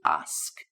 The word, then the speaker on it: ask: And again, pronunciation here as us get that k sound at the end to ask.